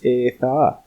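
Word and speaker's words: Adda: In Welsh, the double D is pronounced as TH. So my little brother's name is spelled A-D-D-A, but we say it as Eitha, Welsh for Adam."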